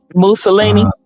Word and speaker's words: Mussolini: Mussolini.